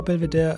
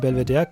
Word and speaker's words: Belvedere: It is not pronounced in the name of the palace because of the French influence in Austria.